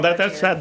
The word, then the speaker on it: Carcieri: Well, no, Carcieri. that's the way I pronounce it.